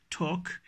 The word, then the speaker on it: talk: is walk talk yoke wherever we we have LK coming together in a word I'll usually remain silent or not in all the cases but usually LK wherever we have L remain silent work talk okay let's